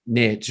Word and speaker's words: niche: to riches, even though the Aussies and the Europeans would argue with me that it's niche, not niche, but niche doesn't rhyme with rich.